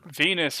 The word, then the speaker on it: Venus: Venus, her name rhymes with Penis.